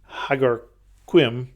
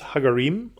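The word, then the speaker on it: Hagar Qim: Hagar space Qim, and it looks like Hagarquim, but it is Hagarim, apparently.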